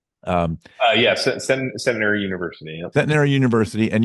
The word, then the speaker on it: Centenary: Did I have that pronunciation right? Yeah, Centenary University.